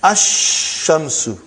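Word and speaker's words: الشمس: And then ash-shamsu. No al, no lam. When I say, I shouldn't say al. I should say no lam.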